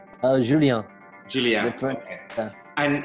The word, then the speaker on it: Julien: Julien.